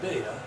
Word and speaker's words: beta: coordinates being alpha and beta, our azimuth and our beta rhymes with theta angle.